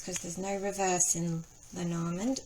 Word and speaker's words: Lenormand: And make sure they're all facing upwards because there's no reverse in Lenorand or Lenoma as it's pronounced in French.